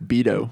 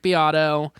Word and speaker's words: Beato: biato oh yeah yeah is that how you pronounce it I always called him Rick beo I thought it was Rick beo for a long time it is Rick biato um all right let